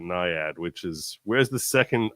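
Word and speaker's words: NIAID: way they they want I worked for ni ID we called it niad which is where's the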